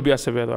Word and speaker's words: Acevedo: It would be Acevedo, I believe. Acevedo? Yeah, that's how you say it in Spanish.